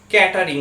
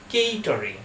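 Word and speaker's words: catering: টি ই আর আই এনজি আমরা এই ওয়ার্ডটার উচ্চারণ করে থাকি ক্যাটারিং বলে আমরা বিয়ে বাড়িতে যাচ্ছি যারা আমাদের পরিবেশন করছে তো আমরা কি বলি ক্যাটারিংটা খুব ভালো ছিল বাট এর ঠিক উচ্চারণ হবে কেটারিং কেটারিং তো অনেকেই আপনারা বলতে শুনবেন কেটারিং আবার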